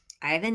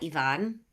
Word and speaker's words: Ivan: Ivan, not Ivonne.